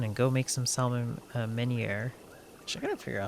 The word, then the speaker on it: meunière: Please take this hardy salmon and go make some salmon meunière. I gotta figure out how to pronounce that.